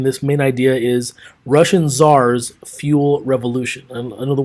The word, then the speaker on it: czar: this slide in this main idea is Russian Czars fuel revolution and in other words our looks